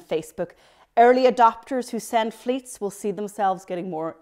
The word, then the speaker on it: Fleets: and they're called fleets yeah it rhymes with tweets and they're called fleets they flutter away after